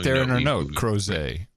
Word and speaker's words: Crozet: Crozet. Rhymes with Jose. It's French, you boneheads.